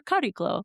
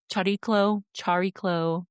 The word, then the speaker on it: Chariklo: can pull up your Chariklo. It looks like Chariklo, like it's spelled Chariklo, if that helps.